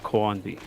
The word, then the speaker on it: Carnby: But I know Carnby would be pronounced Coanby. And nobody's pronouncing it that way.